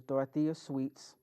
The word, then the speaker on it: Dyotha Sweat: Clark, he could never pronounce my name correctly. It was Dyotha Sweat.